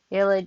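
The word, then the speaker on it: ylide: them there's also a this is an illid ill it okay so this is how you pronounce y l i d e ill it just means that there's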